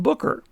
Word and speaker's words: Boucher: now i always thought the fire lookout was pronounced beauche a rather french sounding name however i was corrected by the fire tower association volunteer and it's actually pronounced booker the booker fire lookout is a fully functioning fire tower